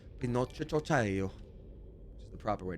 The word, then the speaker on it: Pinocchio: As an Italian, I like to say it, Pinocchio, which is the proper way to say it.